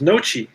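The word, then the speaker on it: Noce: There it is, Noche. Paul Noche. That's how you pronounce it.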